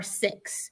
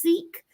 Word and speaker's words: Sikh: And I know a lot of Americans, you hear the word pronounced Sikh, but they pronounce it Sikh. It's spelled S-H-I-K, Sikh. I think I spelled it right. I probably didn't spell it right, but I'm saying it right.